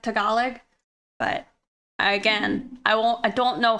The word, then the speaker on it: Tagalog: Oh, final G on the Tagalog. So you don't say it at all.